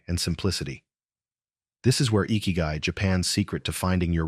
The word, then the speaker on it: ikigai: Let's journey together into the heart of Ikigai, exploring how it can help you navigate the chaos of modern life and build a simpler, more intentional, deeply fulfilling existence.